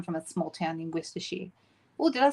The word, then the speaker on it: Worcestershire: You said you come from a small town in Worcestershire. Oh, did I say that right? Is it Worcestershire?